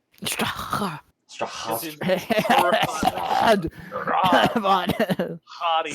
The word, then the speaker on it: Strahd: Just he forgot to pronounce the hard H. Oh, of course. Strahd. Strahd.